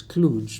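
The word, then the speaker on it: Cluj: that little town to one that I would pronounce as Kluge spells c-l-u-j and at a certain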